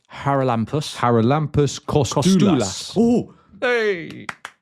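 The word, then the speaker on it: Charalampos: So, don't don't pronounce the C. So, it's Haralampus.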